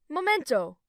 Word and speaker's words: momento: Okay, momento. Again that error. You have to clearly pronounce all the vowels. You make the first o disappear. Oh, okay.